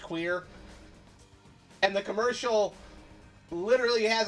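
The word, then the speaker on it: cuir: That one's pushing it cuz cuz in French leather is c u I r pronounced queer.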